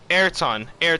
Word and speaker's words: Ayrton: Ayrton. Thank you, Natalie. Ayrton Senna. Appreciate that. But if you guys well, I wasn't alive for this event. But back in 1991, where we saw Ayrton Senna and Nigel Mansell, the very first F1